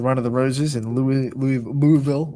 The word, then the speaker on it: Louisville: of the Roses in Louisville. Want to say it right for the people in Kentucky? Louisville. It's not Louisville.